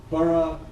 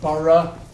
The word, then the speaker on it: borough: This is my pronunciation. Borough, Edinburgh. And this is the Scottish pronunciation as well. Borough, Edinburgh. Borough with schwa, schwa. But Americans will tend to say borough and Edinburgh here.